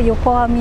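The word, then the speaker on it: 横網: うか、まあここは横網なんですけれど、ついこれ間違えて横綱って読んじゃうよ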